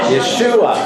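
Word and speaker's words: ישוע: Jesus 是英文发音哎，所以他给他什么希伯来文名字 Yeshua.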